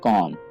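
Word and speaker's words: comb: यहाँ पे आपने बी को नहीं पढ़ना है, आप समझिए कि यहाँ पे बी है ही नहीं, तो इस वर्ड को आप सही तरीके से पढ़ पाएंगे। तो इसकी सही प्रोनाउंसिएशन है कॉम।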